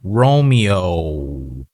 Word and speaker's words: Romeo: Also right here, this is normally a long O sound, Romeo.